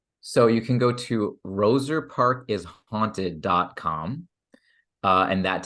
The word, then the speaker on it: Roser Park: comom and Roser Park is spelled r o s r yes thank you for clarifying that a lot of people think it's Rosa Parks but it's not yeah Roser uh Park yeah yeah those are